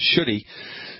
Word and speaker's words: Shuddhi: It's pronounced Shuddhi.